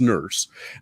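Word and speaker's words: Nourse: how it was pronounced n-o-u-r-s-e but pronounced nurse um began with an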